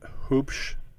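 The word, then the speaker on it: Huebsch: editions of dubliners um is it hoops h-u-e-b-s-e-c-h yeah he ended up uh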